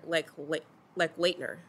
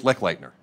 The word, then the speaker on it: Lechleitner: Good afternoon, Acting Director Lechleitner. Did I say it right? Lechleitner? That's close. Lechleitner.